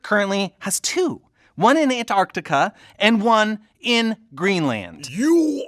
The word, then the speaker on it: Antarctica: blew your mind that i pronounced the sea in antarctica which most people don't do but here's the thing